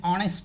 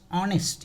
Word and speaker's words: honest: Here also, honest, H is silent.